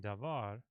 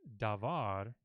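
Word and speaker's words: דָּבָר: this word is that long a vow in devar gets reduced that's what they call it reduced to a shiva or oshawa and so you no longer say devar you say devar eehm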